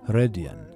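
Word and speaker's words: Rodion: the main character of that story is named rhodion which is pronounced hredien by native speakers and as we saw we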